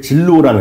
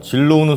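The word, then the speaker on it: Zillow: 미국의 진로우라는 회사가 있습니다. 진로우? 예. 이름이 약간 재밌는데요. 진로우입니다. 진로우 그룹이거든요. 진로우는 소주 아닙니까?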